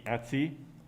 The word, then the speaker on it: etc: the file root system in the etsy directory which is just a different pronunciation etc right there is this